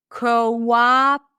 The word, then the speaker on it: cooperate: Here we have two O's that represent two vowel sounds. Listen. Ca. Co. O is in go. And then as in father coa practice it with me cooperate. So it's not cooperate co. It's not o but ca coerate. Cooperate.